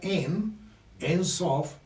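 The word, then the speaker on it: Ein Sof: Aur en hebreo, y en arameo se pronuncia En Sof y En Sofor.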